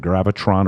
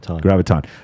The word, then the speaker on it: graviton: Or is it gravitron or graviton? How do you say it? Graviton.